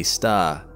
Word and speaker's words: Sagittarius A*: Now, the Milky Way has its own supermassive black hole right in its centre, too, called Sagittarius A* (pronounced “A-star”).